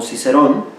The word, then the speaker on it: Cicero: La familia que ya Cicero, así es su pronunciación en latín, que bueno, nosotros lo conocemos como Cicerón, nos decía: prima societas in coniugo est.